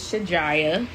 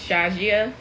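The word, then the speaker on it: Shajiyah: i y a h in Arabic is pronounced shajia but we're Americans her name is Shaya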